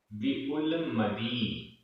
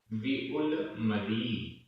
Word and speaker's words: विउलमदी: व्युलमदी, विउलमदी, विउलमदी। यहाँ दा में बड़ी ई की मात्रा है, मदी।